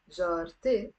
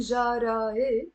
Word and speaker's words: جارتي: end, which means my, jarte, I'm not saying jara e. I end up pronouncing this te marbuta here, okay? And I say jarte, not jarae. We don't even say jarate.